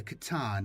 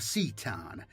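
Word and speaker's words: C'tan: Call had learned it was powered and controlled by the shards of the katan or satan, depending on your pronunciation, and he hoped to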